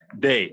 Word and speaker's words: Dae: Day, like day and night, Okay. like Sunday, Monday, Tuesday.